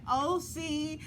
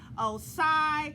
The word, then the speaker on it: OSCYI: pronouncing his name wrong i've been saying oci but it's really osai so i want to